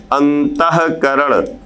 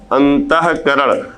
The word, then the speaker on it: अंतःकरण: है लेकिन जैसे ही यहां पर हम विसर्ग लगाएंगे तो इसका उच्चारण हा की तरह होगा अब इसको क्या पढ़ा जाएगा पुराता काल जैसे लिखा हुआ है अंतःकरण अंतःकरण अब यहां पे जब